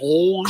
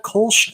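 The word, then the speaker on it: Kölsch: Say How do you pronounce Kolsch. that? Kolsch.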